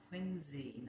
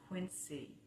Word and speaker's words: Quincy: And it is pronounced Quinzy, not Quincy.